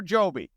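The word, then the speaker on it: Jobe: Is it Job or Joby? All the announcers are saying Job, so I'm going to say it's Job.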